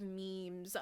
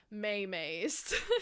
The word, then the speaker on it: meme: So my meme comes from the Greek root, but Dawkins changed the spelling from M-I-M-E-M-E to just M-E-M-E. He denoted that M-E-M-E should be pronounced to rhyme with cream, which is hilarious because